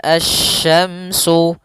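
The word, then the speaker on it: الشمس: Asyamsu wal qamaru biusban. Pada lafal asyamsu di sini ada alif lam syamsiyah yaitu alif lam yang ditulis tapi tidak dibaca sehingga bacaannya langsung ke huruf syin kemudian kita juga harus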